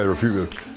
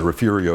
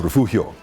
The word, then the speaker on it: Refugio: Oh, yes, yeah, refugio. Often mispronounced. And also, it's also interesting to consider, you know, I don't know how they got the R in there, refurio. It's a gringo thing, you know, the gringos did it because they couldn't pronounce refugio.